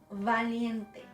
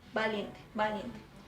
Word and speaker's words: valiente: Bueno, valiente. Okay, that sound that I made, it's wrong. Valiente, no, valiente. Bueno, valiente.